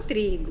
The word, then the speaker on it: trigo: Como é que eu vou saber qual é, se realmente o tri é a sílaba tônica da palavra trigo? Eu vou chamar o trigo, mas eu não vou chamar assim, ei trigo, vem cá. Não é assim, gente. Eu vou chamar, olha só, trigo.